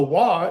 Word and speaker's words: waw: And and the the waw is is a w, but it's the ancient form of waw.